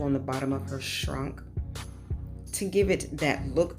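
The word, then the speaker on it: Schrank: is a German shrink which is pronounced shrunk she was stationed over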